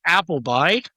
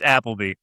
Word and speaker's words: Appleby: We have Sherri Appleby. I'm pro That one I probably mispronounced. You did. It's Appleby. So.